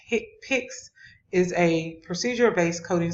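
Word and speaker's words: HCPCS: common procedure coding system our hick pynx pronounced hit picks is a procedure based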